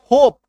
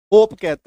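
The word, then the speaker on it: hope: एल ओ वी ई ल अ व love H ओ पी ई होप। इसका होपे तो नहीं बोलते। होप कहते हैं।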